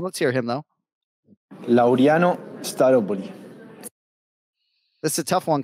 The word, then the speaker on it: Laureano Staropoli: No, that's not at all how you pronounce the first or last name. Let's hear him, though. Laureano Staropoli.